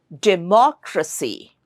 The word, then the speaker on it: democracy: So, democracy has four syllables. De moy. So, the rule is the third syllable from the right. The third syllable from the right is mo. So when you pronounce this word in a sentence it should sound like democracy.